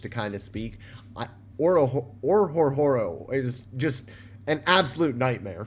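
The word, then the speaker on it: Orhorhoro: The H's are silent, so it's just Orororo. Orororo? Orororo. I love that. I love that. It's so much easier. Orororo.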